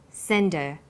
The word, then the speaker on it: send her: Send is the strong form and her is weak. Because her is not stressed, we drop the initial h sound. So it's pronounced sender.